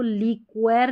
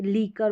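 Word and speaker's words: liquor: तो यहाँ पर ये जो क्यू यू है इसका क्व, मॉस्किटो, मॉस्क्वीटो नहीं बोलते हम, क्वी बोल रहे हैं, नहीं, मॉस्किटो, क साउंड आ रहा है क्यू यू का। अब इसको लीक्वेर नहीं बोलते, लीकर बोलते हैं।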